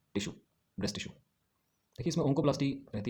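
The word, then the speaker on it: oncoplasty: Onco पिलास्टी बोलिए, अगर आप इसको बोलना चाहते हो ना, प्रोनाउंस करना चाहते हो तो इसको ओंको पिलास्टी बोलिए, ओंको पिलास्टी।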